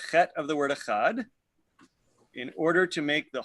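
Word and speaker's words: אחד: One should also extend the pronunciation of the letter Dalet of the word Echad.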